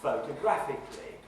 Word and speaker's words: photographically: The primary lexical stress is on the syllable graph. Yeah? But we've got another syllable which is more prominent than most of the other syllables in the word, but not more prominent than graph, and that's the first syllable, phot. So photographically.